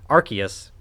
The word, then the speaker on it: Arceus: arceus gold star not rcs i'm sorry arceus remember it's like noah's ark you don't say ours because official pronunciation is